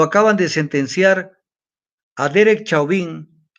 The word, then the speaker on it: Chauvin: Y coincidencialmente el día de hoy, 20 de abril, lo acaban de sentenciar a Derek Chauvin, como se escribe en francés, se pronuncia en francés. Chauvin, el policía que lo mató a George Floyd.